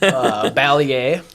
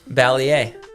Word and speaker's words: Balliet: Balliet. Balliet. Okay. Yeah. Nice. Okay. That's how the younger generation is pronounces it. Yeah. But that is the real technical way. I think so, yes. Okay. Some of my aunts will say Balliet. Some of my dad says Balliet.